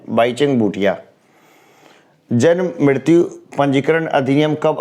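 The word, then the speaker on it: Bhaichung Bhutia: किसी भी विदेशी फुटबॉल क्लब के लिए खेलने वाला प्रथम भारतीय खिलाड़ी बाईचुंग भूटिया। कई लोग ना भाईचुंग भूटिया भी बोलते हैं, लेकिन ये ज़्यादा सही प्रोनाउंसिएशन है, बाईचुंग भूटिया।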